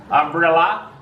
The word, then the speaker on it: umbrella: Umbrella. Ends with an up sound.